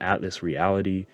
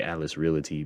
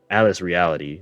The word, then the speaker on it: Atlas Reality: One thing I know about Atlas Reality, yes, I said it right this time. I don't know why I always say Atlas Realty, but Atlas Reality.